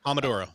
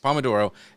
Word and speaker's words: pomodoro: I think is it Pomodoro? Is that how you say it? I don't never know. Yes, Pomodoro. Pomodoro, and it gives you,